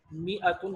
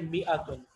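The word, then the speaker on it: مائة: मिअतुन हम कैसे लिखेंगे, मीम अलिफ होगा लेकिन ये अलिफ साइलेंट है, ठीक है, और हम यहाँ पे एक लगे ता लगा देंगे, ये है मिअतुन, इसका मतलब है 100, ठीक है।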